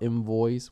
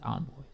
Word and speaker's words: Envoy: Because they have this myth about Invoice, which is what he used to be at some point, right? I think it's Envoice. Envoice. You're right. It's spelled with an E, but it's Envoice.